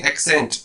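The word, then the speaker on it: Accent: ये वर्ड वैसे एशेंट नहीं होता है, ये कंपनी इसको एशेंट बोलती है, अपनी कार को एशेंट बोलते हैं, प्रोनाउंस करते हैं अपनी कार को, अपनी कार का नाम। वैसे इसको अगर हम पढ़ेंगे इंग्लिश में तो बोलेंगे एक्सेंट। एक्सेंट होता है मतलब वे ऑफ स्पीकिंग,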